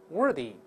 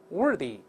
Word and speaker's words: worthy: 第二个是主辅音，依然吐舌头，它声带震动，worthy， worthy，好，be worthy of something 或 be worthy